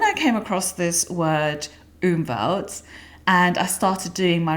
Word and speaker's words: Umwelt: So, Umwelt is a German word, actually, and it is spelled u m w e l t, and pronounced Umwelt.